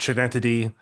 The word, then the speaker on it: Schenectady: I don't know how to say the word Schenectady.